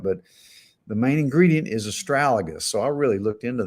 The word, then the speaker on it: Astragalus: Maybe it's just astragalus. It has an L in there. Astragalus. Okay, Astragalus. yeah, I was mispronouncing.